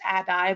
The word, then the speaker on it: ADDIE: Suarez who says um Addie should actually be pronounced Adai because the E is often silent I love that and